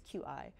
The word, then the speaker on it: Qi: Inductive charging I think it's pronounced qi, it's qi.